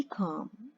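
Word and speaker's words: calm: बी काम, बी काम, अब ये एल जो है ये साइलेंट है, हम एल का साउंड नहीं निकालते, सिर्फ सी ए एम का साउंड निकालते हैं।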